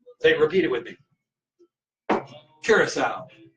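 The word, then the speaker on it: Curaçao: the island of Curacao I looked up someone who lives there and how they say it and they said Curacao so it's not Krakow it's not Zura cow it's not curved Krakow it's not Krakow but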